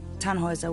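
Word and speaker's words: Tannhauser: Tanhauser. We'd pronounce it Tanhoer with an um loll.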